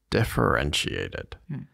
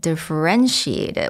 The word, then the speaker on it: differentiated: The last pro word for the episode is differentiated.